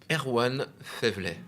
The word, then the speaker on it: Erwan Faiveley: How do you pronounce? Erwan Faiveley.